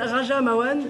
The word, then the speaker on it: Rajae Maouane: Molenbeek connu aussi pour son franc-parler je m'appelle Raja mawan je ne dis pas parce que j'ai peur